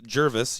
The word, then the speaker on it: Gervais: It's Jervis. You don't pronounce the A, says Ryan81607.